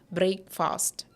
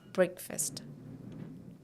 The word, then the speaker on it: breakfast: this is not fast this is first first and together we have breakfast I had noodles for my breakfast I had noodles for my breakfast but not breakfast it is breakfast all right and see